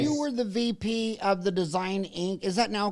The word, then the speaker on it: T.H.E. Design: When you were the VP of the Design Inc., is that now called Desergo? No, we were T.H.E. design is how we pronounce it.